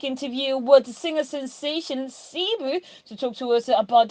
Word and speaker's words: CeeBoo: name like here no darling my name is cebu like i can actually tell you where the